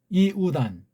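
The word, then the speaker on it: Ἰούδαν: 이우단. 이우단이라고 읽어야 돼요.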